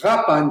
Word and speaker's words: Kapan: And Kapan is really the pronunciation is Kapan, GH, but during that time, that was Soviet Armenia. And the Russians translated it. They don't have those guttural sounds, so they made it Kapan.